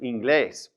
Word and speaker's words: inglés: There's an accent on that E right there, inglés.